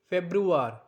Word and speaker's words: Februar: Februar. Now we have to focus on the sound like roar.